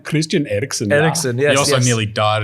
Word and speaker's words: Eriksen: Can we pronounce his name? Christian Eriksen. Eriksen, yes.